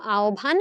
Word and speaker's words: আহ্বান: আহবান যে শব্দটা আছে যেটাকে আমরা ভুল উচ্চারণ করি। এটার উচ্চারণটা মূলত আওভান। আমরা এখানে আসলে ও ভ লিখছি।